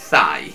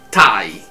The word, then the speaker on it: Thai: E anche l'aggettivo thailandese Thai non è Thai, è Thai. Come vi avevo fatto vedere in un mio video precedente, quando ho parlato dei omofoni, la parola time, che si scrive T-H-Y-M-E, significa timo. Poiché l'H in questo caso è muta, quindi il TH, come in thailandese, in Thai, non si pronuncia, diventa un omofono della parola tempo, time.